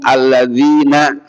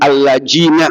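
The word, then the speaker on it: الَّذِينَ: Ada yang enggak bisa ngomong alladzina tuh biasa ngomongnya. Udah alladina udah biasa.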